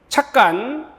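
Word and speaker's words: 찻간: 착간. 사이시옷은 음절 끝소리 규칙에 따라서 디귿 발음하는 것도 괜찮아요.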